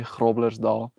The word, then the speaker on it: Groblersdal: You have to roll your R. Gro, gro, gro. Right? Like a G sound. Our G sound goes and then our R sounds go so it's GR.